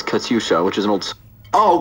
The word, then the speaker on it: Katyusha: Surprised with that, but for the pronunciation, it's Katyusha, which is an old.